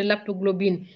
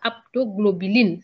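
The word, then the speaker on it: haptoglobine: Avant de parler de l'aptoglobine, que vous avez mal prononcé d'ailleurs, ce n'est pas aptoglobuline, c'est l'aptoglobine.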